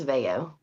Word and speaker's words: Veo: pronounce it for us my last name is Veo Veo okay I apologize I